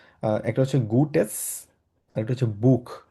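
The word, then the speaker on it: Buch: হচ্ছে গুটে আরেকটা হচ্ছে বুক এটা খ উচ্চারণ হবে বুক লেজেন আইন গুটেস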